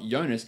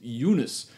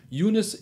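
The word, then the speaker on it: Giannis: I've got to correct that it is not Yanis it is unis unis Europe Co as I heard him pronounce the other day so shout out to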